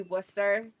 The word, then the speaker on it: Worcester: Worcester, yeah, it's spelt Worcester, but it's actually Worcester.